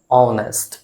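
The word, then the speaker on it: honest: ईमानदार का इंग्लिश क्या होता है, ऑनेस्ट। ये जो ऑनेस्ट है प्रोनाउंसिएशन, इस प्रोनाउंसिएशन का जो फर्स्ट साउंड है ओ, ये ववेल साउंड होता है और ववेल साउंड के पहले एन का प्रयोग होता है।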